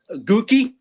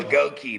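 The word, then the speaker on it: Goedeke: Gookie. Gookie. Damn, that's a fucked up thing. Goki on. Hey, there you go, Goki. That's how we're supposed to pronounce it.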